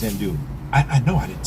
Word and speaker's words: andouille: Yeah, so it's andouille. Even though it looks like andouille.